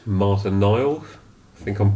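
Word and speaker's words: Nael: Spanish lady called Marta Nile. I think I'm pronouncing that right. Mhm. If anyone wants to look her up, it's spelled N A E L. Mhm. Rather than N I L E or something.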